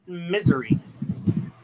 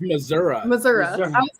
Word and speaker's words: Missouri: that I was always I was always told to pronounce it misery yeah definitely not no it's Missouri I thought you were